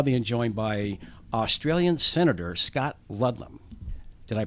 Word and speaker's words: Scott Ludlam: we are now being joined by Australian senator Scott Ludlam did I pronounce that right you pronounced it perfectly okay